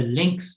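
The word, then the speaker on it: LINX: is a recorded video it it's about the links Nairobi internet exchange Point links that's spelled l i NX started as the London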